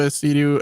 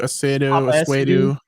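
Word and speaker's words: Essiedu: It's Papa Esidu, Esidu.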